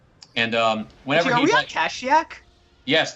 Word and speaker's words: Kashyyyk: And whenever are we on Kashyyyk? Yes, this is Kashyyyk, not Kashyyyk. It's Kashyyyk. That's how sorry.